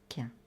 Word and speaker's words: chien: En Normandie, on prononce quin.